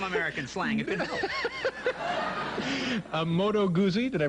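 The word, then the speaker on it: Moto Guzzi: should learn some American slang who know a moto gozi did I pronounce that correctly that's motor gooi is yeah what what kind of a bike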